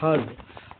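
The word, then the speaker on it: herb: पर का अर्थ अतिरिक्त अतिरिक्त लाभ एच ई आर बी हर्ब हर्ब का उच्चारण हिंदी में हर्ब एच ई आर बी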